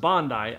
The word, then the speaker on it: Bondi: of you watching this that just said it's pronounced Bondi you douche it's not it's pronounced Bondi I promise now this is also one of